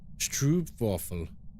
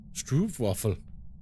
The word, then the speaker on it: stroopwafel: Stroopwafel is more like, oh shit, son. Stroopwafel. Stroopwafel.